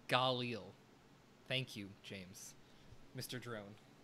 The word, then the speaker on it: Galil: the campaign is worth a play and it's pronounced galil thank you james mr drone um but yeah